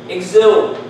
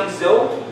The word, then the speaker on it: exhume: Exhume. You know what? I consider this an exception. Because this can be pronounced exhume, but this can also be pronounced exhume. So, there's no GZ sound, but KS sound.